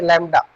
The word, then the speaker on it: lambda: Okay, distance between two consecutive crusts is called wavelength, which is represented by this symbol, which is pronunciated as lambda, or distance between two consecutive troughs is also called wavelength.